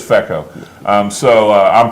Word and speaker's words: feco: been rso or feco fico fica it's not fico it can't be it's exactly it really is feko um so uh i'm